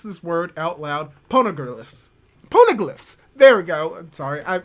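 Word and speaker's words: Poneglyph: some interesting developments involving the pornographs or the pono neffs i cannot pronounce this word out loud ponogirliffs ponoglyphs there we go i'm sorry that's going to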